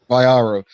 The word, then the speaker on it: Vayaro: How do you pronounce Elizabeth's last name? Vayaro.